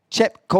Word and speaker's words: Chepkoech: smiling you happy there we have Beatrice yep Chipko which is is the correct pronunciation there it is brilliant I mean I